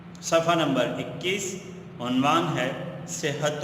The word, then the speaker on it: صحت: تلفظ کیا ہے۔ بیٹا، یہ لفظ ہے صحت، صحت ہا کے تشدید کے ساتھ، ٹھیک ہے بیٹا۔ صحت و